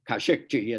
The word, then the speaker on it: Khashoggi: and that is the hashoggi case um in uh or kashukchi as I believe it's pronounced in the Arab world um the journalist who